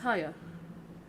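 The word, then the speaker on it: Haigha: happy his name is higher pronounced itself to rhyme with mayor I love my love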